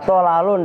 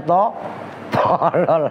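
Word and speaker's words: طلل: Wa tolalun, dan bermula lafaz tolal. Tak ulangi, tolal. Ntar lu kalian bacanya tolol lagi.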